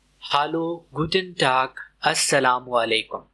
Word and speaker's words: Hallo: इसकी प्रोनाउंसिएशन है हालो। हालो H silent नहीं होता। क्लियर बोलना है। हालो हेलो जैसा नहीं।